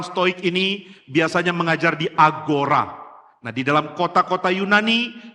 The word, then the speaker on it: agora: Kota Yunani di center itu ada agora. Nah, saya diberitahu oleh orang yang ahli bahasa Yunani kuno atau klasik, katanya bacanya ahora.